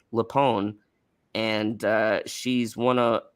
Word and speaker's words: LuPone: quietly in the background saying the correct um pronunciation for uh of lapoon's last name it's lupone and uh she's one of she's one of